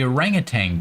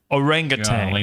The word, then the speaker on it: orangutan: I say orangutang. There's no G on the end.